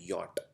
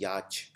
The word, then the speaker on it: yacht: इसको प्रोनाउंस करते हैं यॉट। इसको बोला हिंदी में बोला जाता है याच।